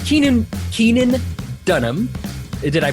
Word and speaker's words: Keenan Dunham: you've met him now uh we it's Keenan Keenan Dunham did I pronounce that correctly correct yeah all right awesome